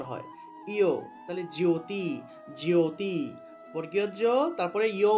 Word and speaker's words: জ্যোতি: এই যে জফলা আছে এখানে জফলা থাকলে ইয় উচ্চারণ হয় ইয়ো তাইলে জ্যোতি জ্যোতি বর্গীয় জ্য তারপরে ইয় উচ্চারণটা আসবে তাহলে